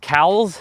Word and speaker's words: Cowles: And it's pronounced Cowles, so, and it's spelled Cowles.